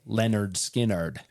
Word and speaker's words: Lynyrd Skynyrd: and of course that first album was called pronounced Lenard skinnard so the band's lineup by that time had